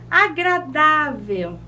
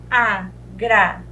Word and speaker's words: agradável: Agradável. Agradável. A última sílaba, a penúltima. A penúltima, então, é a nossa sílaba tônica.